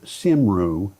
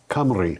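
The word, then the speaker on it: Cymru: like it's nation sim simru or kimu is pronounced nation kamri. I know that's not what it looks like but it's a Welsh name. Okay. So this is from nation kamri kamri.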